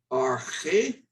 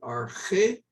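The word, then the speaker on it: ἀρχή: So when I see this word, for example, I pronounce it arche. If the accent goes this way, I still pronounce it arche.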